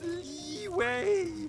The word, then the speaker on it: Liyue: It's pronounced Liyue.